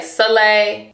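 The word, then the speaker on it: Soleil: So, some people say sole, but it's actually pronounced sole, but it's spelled s o l e i l.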